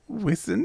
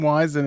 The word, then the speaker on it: Wisin: All right, track 4 is Amor, featuring Wisin. Is that how you say it? Yes. Why are you laughing? Why is it so funny? Well, because we were calling him Wizen and Yandel last time.